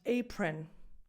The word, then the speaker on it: apron: This one is pronounced apron. So it doesn't matter that it's spelled as an O, it's spelled O-N.